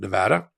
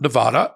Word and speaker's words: Nevada: things slightly different in Nevada including how they pronounce this the name of the state it's not Nevada it's Nevada but I practice law in